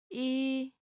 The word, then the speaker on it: 이: 이, This is pretty easy, right? Practice writing this character as you say the pronunciation out loud.